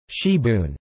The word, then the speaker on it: sibwn: in South Wales is sabang pronounced she Boone from the French cybo